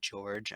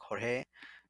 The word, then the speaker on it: Jorge: in them so like the one i said george i know would be pronounced probably like jorge but that just didn't